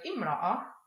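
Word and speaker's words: امرأة: If the word Imra'a is at the beginning of the sentence, as in Imra'atun 'Isamiyyatun, then the not written Hamza is pronounced.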